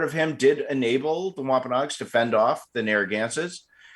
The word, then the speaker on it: Wampanoag: What happened to the Wampanoags? Well, and I think I keep mispronouncing their name, so. No, you're doing just fine. Wampanoag is correct.